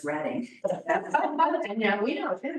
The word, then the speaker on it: Reading: Oh, it's Reading, Pennsylvania. It most certainly is. And Reading Railroad. I got into a lot of fights as a child. The correct pronunciation of the Railroad. They all know now that it's Reading.